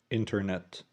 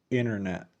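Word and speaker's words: internet: تقول تقول تقول اونو كلمه انترنت انترنت نطقها كده صح لكن برضو نقدر نخطفها ونقول انرنا بدون اصوات حرف التي الاثنين اللي موجودين في الكلمه انرنا انرنا وبرضو وانت اوت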